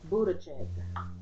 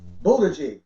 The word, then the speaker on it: Buttigieg: I wouldn't want to mispronounce it. Buttigieg. Buttigieg.